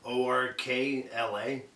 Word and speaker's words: Orkla: On that Would you spell that, please, dear? Orkla is O-R-K-L-A.